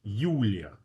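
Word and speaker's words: Юлия: Okay, the word Julia in Russian is ulia. Ulia.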